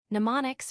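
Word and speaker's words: mnemonics: Pneumonics, pronounced pneumonics, are a way to remember things using reminders.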